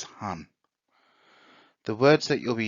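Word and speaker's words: 半: kanji means half and the pronunciation of it is han the words that you'll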